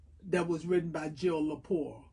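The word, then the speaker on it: Lepore: Her name is Jill Leapour.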